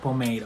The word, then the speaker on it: pomade: Deep brow pomade, okay? That's how you say it.